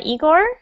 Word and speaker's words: Igor: today um a new student is it uh eigor is that how you say your name yes that's right pronunciation and uh where are you from igore